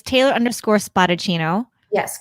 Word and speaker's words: Spadaccino: spotted chino yes correct so spa and then um and then chino like cappuccino everyone says yep i don't know how people not know how to say your name but how do you say her name i'm like spotted chino exactly like how it's spelt yeah no it's very